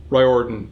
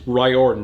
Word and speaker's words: Riordan: It's pronounced Riordan, not Riordan like I've been saying.